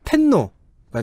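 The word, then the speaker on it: 天皇: 그렇습니다 꽤 오래됐죠이이 전통은네 이거를 그대로 이제 일본식으로 읽으면 텐노가 됩니다 혹자는 덴노 고도 있더군요 네네 어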